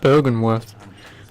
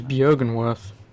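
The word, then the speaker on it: Byrgenwerth: Oh, it's pronounced Bergenworth. I always pronounce it as Björgenworth.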